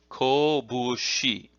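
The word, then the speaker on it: 拳: The kunyomi, or Japanese origin pronunciation, is as follows: kobushi. Ko, now the middle character is fu, but with the voicing it becomes bu.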